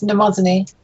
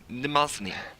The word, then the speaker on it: Mnemosyne: Would you like me to tell you how to pronounce her name? Yes. It's Mnemosyne. Okay. Mnemosyne.